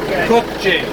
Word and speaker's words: Kubota: Or how do you pronounce that, man? Kubota.